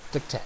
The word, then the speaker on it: Diktat: How is it pronounced? Love Diktat. Diktat.